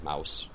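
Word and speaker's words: Maus: And to be fair, it's M-A-U-S, which we all pronounce as mouse.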